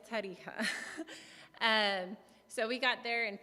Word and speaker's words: Tarija: And through moving to different countries during that time, we ended up back in Bolivia in Tarija, which nobody can pronounce, but it's Tarija.